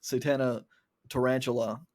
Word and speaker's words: Satana Tarantula: album called Satana Tarantula, which I pronounced as Satana Tarantula last week because, I mean, it's spelled the same way. That's how it looks. So I should have realized because it was Satana that it was Latin and then it would be Tarantula instead of Tarantula, but I didn't.